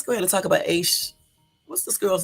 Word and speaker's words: Asha: It's Asha because they got to pronounce up here AY hyphen SHUH.